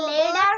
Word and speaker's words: leather: red leather Miss, এটা কি লেদার হবে নাকি লেদার yellow হবে? leather robots. এটা লেদার, লেদার হবে, লেদার, লেদার। লেদার। লয়কার লে, দয়কার দা, র। উচ্চারণ না letter উচ্চারণ লেদার, লেদার।